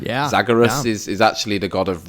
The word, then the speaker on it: Zagreus: Zagreus.